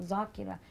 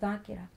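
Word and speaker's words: ذاكرة: We call somebody who sits on the minbar a zakir or zakira. It's actually dhakir or dhakira.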